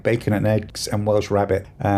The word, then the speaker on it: Welsh rarebit: bacon and eggs and Welsh rabbit, which is actually cheese on toast, though I remember it being pronounced and spelled as Welsh rarebit growing up, but whatever.